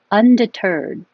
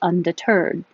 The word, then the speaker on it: undeterred: code my calendar true undeterred the stress is on the end which is unusual for English undeterred snarl because your tongue's